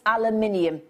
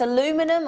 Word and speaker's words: aluminium: the opposite because it's aluminium um and if it's aluminum or aluminium depending on how you pronounce it depending on where you're from it's incredibly lightweight and